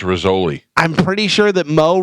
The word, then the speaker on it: Rizzoli: It's pronounced Rizzoli.